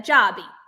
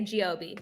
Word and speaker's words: Giobbi: said it perfectly okay Italians have said a Joby but Americans will say Gob so grp right um